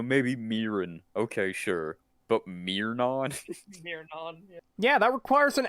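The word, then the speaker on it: Myron: the Wiki page on myin because he myON himself will actually tell you his name he says his own name you know how it's pronounced how do you get Miron from myin any other way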